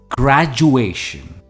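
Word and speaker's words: graduation: miss pronounce होता है इसकी सही प्रोनंसिएशन है ग्रु एशन ग्रेजुएशन इसमें जो स्ट्रेस है वह ए पर है ए ग्रेजुएशन द ग्रेजुएशन सेरेमनी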